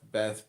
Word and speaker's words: Beth: Beth, pronounced Baith, transcribed as B, the number 2, meaning house, transparent intelligence.